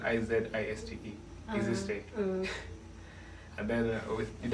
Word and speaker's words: Eazistey: Yeah, so we did all of that, and then found Eazistey was taken. Then we spell it Eazistey, EASYSTAY.